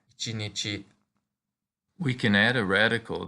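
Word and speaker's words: 一日: The pronunciation for day is easier to remember when it refers to one day, or ichinichi.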